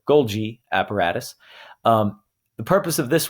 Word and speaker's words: Golgi: All right, Golgi apparatus. This is just fun to say since it's got a hard and a soft G in the same word. Golgi apparatus.